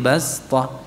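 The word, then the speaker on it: بصطة: wa zadakum fil khalqi basta. Panjangan nggih? Ya udah dari wazadakum saja. Wazadakum. Ayo. Wazadakum fil khalqi basta. Basta. Ya, basta. Iya. Baik, shotnya dibaca dengan sin. Ini dibaca dengan sin. Kenapa tadi alasannya?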